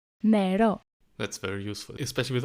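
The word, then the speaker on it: νερό: NeʻРo. NeʻRo. NeʻRo.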